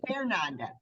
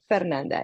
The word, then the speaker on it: Fernanda: So, it's Fernanda. Fernanda, yes.